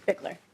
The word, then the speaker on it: Bigler: All right, we have then Clark Bilger, or Bigler, I'm not sure, with the Minnesota Budget Project, Minnesota Council of Nonprofits. You pronounce it Bigler? It's Bigler, yeah. Bigler, okay, thank you.